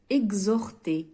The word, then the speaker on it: exhorter: ال H muet نقصد به هو le H الذي لا ينطق. ال H الصامت. Exemple, exhorter.